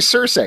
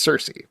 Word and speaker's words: Circe: It shouldn't be Circe. That's not how you pronounce the thing. It's Circe.